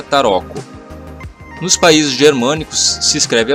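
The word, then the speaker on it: tarocco: ficando da seguinte maneira na itália e se escreve assim se pronuncia taroco nos países germânicos se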